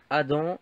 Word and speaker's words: Adam: Donc ça se prononce Adam et ça s'écrit Adam. Avec un M à la fin.